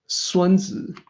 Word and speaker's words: Sunzi: That's the correct pronunciation for what we call Chuang Tzu, Zhuangzi, Sunzi, and Kongzi.